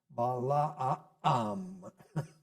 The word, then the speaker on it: Balaam: I believe they would pronounce that Balaam. The double A normally implies a glottal stop in the middle of the ah sound. So Balaam. And that's also true in Arabic.